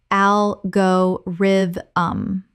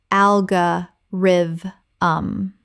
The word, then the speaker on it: algorithm: algorithm common mispronunciation al go rid um correct pronunciation al ga riv um Four syllables. The stress falls on the first syllable.